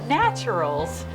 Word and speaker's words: Natcheryl's: So I'm going to welcome you, and you're going to meet Cheryl at the restaurant here at Natcheryl's.